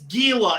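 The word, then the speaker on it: Giulia: they pronounce it Gile it's G it's Gila it's kind of like Guillotine like the I the is kind of silent in that oh okay Jesse you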